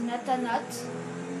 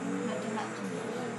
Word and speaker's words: Nathanat: podcasts, je vous conseille une chaîne, donc c'est Nathanat, N-A-T-H, Nathanat, donc comme ça se prononce, quand on entend at, c'est avec un H, c'est ce que j'ai fait.